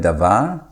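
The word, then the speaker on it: דָּבָר: It's coming from the word Davar. Davar has kametz and kametz, but Devar is having shua and patach.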